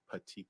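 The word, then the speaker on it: petechiae: and if you can't that's fine I but pronounce it slowly and loudly for everybody patii okay okay and what is patii uh it's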